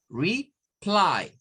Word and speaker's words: reply: Esta no es de una, pero la primera sílaba es re, no es re, es re, re, es un sonido largo. Re, y luego vamos a decir ply, reply, reply.